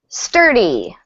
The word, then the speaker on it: sturdy: Um, sturdy. Sturdy. Sturdy. Sturdy. Sturdy. Sturdy. Yeah. Yeah. Really emphasize that R. Good. So, stress on that first syllable.